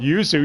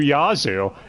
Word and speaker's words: Yuzu: He called Yuzu Yazu, and Orihime Orihime. Yeah, Yuzu or Yuzu, what's the difference?